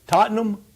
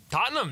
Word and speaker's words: Tottenham: Am I pronouncing it correctly? Tottenham? Tottenham, that's right.